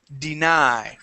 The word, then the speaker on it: deny: to be deny okay our accent is on the end of the word deny so you see the capital letters deny yeah when we change